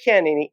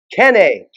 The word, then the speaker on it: Kennay: are here with rick kennedy is it kennedy or kenny k i'm having a tongue twister kenny kenny kenny i i keep want to say it wrong but rick kenny and